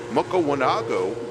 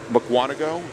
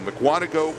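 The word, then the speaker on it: Mukwonago: Mark is out of Makawanago, Wisconsin. Actually, somebody gave me the pronunciation of that. Yes. Muano. There we go. Mcuano, Wisconsin.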